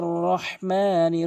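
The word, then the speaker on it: ٱلرَّحْمَٰنِ: কি মারাত্মক লেভেলের ভুল অধিকাংশক আর রহমানির রহিম বলে এখানে ভুল উচ্চারণ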